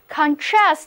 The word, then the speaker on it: contrast: 注意当把重音放在第二个音节上读作 contrast 的时候，单词就变